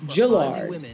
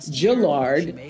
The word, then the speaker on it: Gillard: it can be pronounced Gillard. And so I was playing a mind game with myself, Gill and Lard, to make sure I didn't say Gillard instead of Gillard.